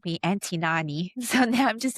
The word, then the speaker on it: Nan Heui: Koreans combine their first and middle name together. So it's Nani.